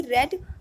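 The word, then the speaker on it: read: Instead of मतलब होता है कि बजाय, तो इसका पूरा सेंस जो निकल कर आता है, instead of a novel she रेड अ few poems, मतलब कि नॉवल पढ़ने की बजाय उसने कुछ कविताएं पढ़ी।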